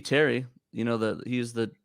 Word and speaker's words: Terry: patrick terry bogard wait how do you say that carrie bogard t-e-r-o-y-b-o-g-a-r-d is it possibly just under boguard it should be terry you know that he's